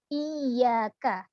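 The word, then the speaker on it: إِيَّاكَ: kalimat yg ak nah setiap kali huruf bertasydid harus dikasih nabroh iyyaka kecuali huruf mim dan Nun karena ini kedua huruf ini adalah huruf punah maka cara pengucapannya harus ditekan pada kalimat iaga tapi jangan sampai terputus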